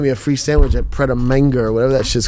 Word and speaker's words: Pret A Manger: How you say it? Manger. Pret a Manger. Where I was like, word? Is that what it's called? But it's funny because I always see it and I just go, manga.